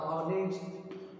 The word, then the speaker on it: honest: Higher, okay, higher or honest, you know very well the word honest.